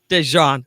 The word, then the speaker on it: Dejan: The name is pronounced Dejan Talks. Dejan.